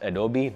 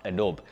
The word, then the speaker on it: Adobe: It's called Adobe, and yes, it's pronounced Adobe, not Adobe.